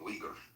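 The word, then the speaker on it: Uyghur: I mean, it's funny calling them wiggers is funny, but it's like what is someone what a wiger is? Sorry, I pronounced it wrong. Weaguer.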